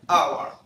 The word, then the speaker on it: hour: طيب اقرا الكلمه دي، هي نطق على فكره hour. hour hour مش ها لا.